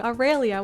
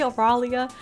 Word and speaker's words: Aurelia: tv question about aurelia oh why did i say her name wrong aurelia why did i just say oralia aurelia hello yeah hello